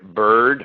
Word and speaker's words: bird: They'll see words like word, bird, heard, W-O-R-D, B-I-R-D, H-E-A-R-D, and they'll think that they're pronounced differently. Word, bird, heard are pronounced the same, even though they're written differently.